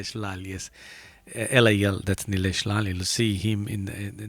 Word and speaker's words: Nilesh Lal: And Nilesh Lal, I have to say it correctly because I did mention Nilesh Pal. It's not Pal, it's Nilesh Lal.